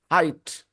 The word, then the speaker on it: height: uh height Gonzalo height clearly the spelling has an e but that e doesn't count okay so the pronunciation is height okay okay Gloria Rodrigo